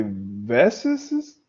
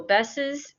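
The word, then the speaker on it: Bess's: you have to say Besses, Besses, sis. So that you can change my name. That's not good. Yeah, no, actually, they're pronounced the same. So Besses and Besses.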